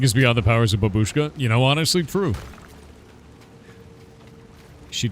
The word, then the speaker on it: babushka: It's not babushka, it's babushka. Babushka. Is that what you mean? Babushka. Babushka. I don't know how to pronounce that. I'm American. We're bad at this. Stress is the birth part of the word.